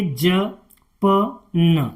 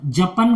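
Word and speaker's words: Japan: अगर आप इसे पढ़ेंगे ज पन जपन कोई शब्द नहीं है अगर यह लिखा है अगर आप पढ़ना सीख जाएंगे तो तुरंत एकदम उसका जैसे ही नजरों के सामने आएगा तो आप उसका एकदम उच्चारण कर देंगे जापान लिखा है जपन नहीं पढ़ेंगे उसे आप क्या पढ़ेंगे जापान तो ऐसे आपको प्रैक्टिस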